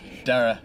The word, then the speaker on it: Dara: I always pronounce your name wrong. Dare, really? Dara. Dara. But it's spelled like, in England, I guarantee you would say Dare, like everyone you would. Dare, yeah. So, Dara.